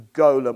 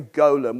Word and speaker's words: Golem: David Aronson's painting the Golem or the golum I'm going to say golum which I think is maybe the British pronunciate sorry Golem golum I'm